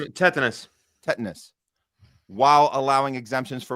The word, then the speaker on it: tetanus: Uh pertusus mumps and uh ti tonitis. Tetanus.